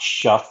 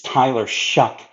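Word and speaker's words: Shough: Yes, Shuck is how you pronounce, by the way, his last name. It's not Shuff, it's not Shuff, it's Tyler Shuck.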